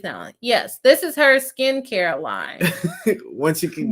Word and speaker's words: SKKN: a makeup line called Skin let me see what it is skin let me show you peeps because everybody think I'm saying it wrong and I'm not oh it was both